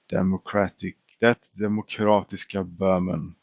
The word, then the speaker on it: demokratiska Böhmen: We are going to the demokratiska Böhmen is the official pronunciation of this land.